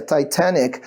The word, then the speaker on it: Titanic: Se você tiver paciência de ver o filme Titanic de novo, que a pronúncia é Titanic, quando o bonitão, que